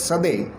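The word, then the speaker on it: Coedès: a french author so the spelling is codc but they pronounce it as sade he is a very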